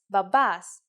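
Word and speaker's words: μπαμπάς: need the word is Babas let's write it if you notice that me and P together actually sound like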